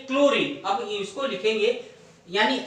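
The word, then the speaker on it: chlorine: तो इसमें क्लोरीन में आगे का जो CHLO है ना, तो H इसमें साइलेंट है, तो H इसमें नहीं आएगा, साइलेंट है।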